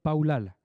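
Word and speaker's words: פלל: C'est le mot, ça s'écrit palal, ça se dit P-A-W-L-A-L, paulal.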